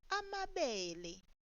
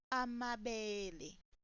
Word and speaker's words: amabele: Now the sorghum would be pronounced as amabele instead of amabele.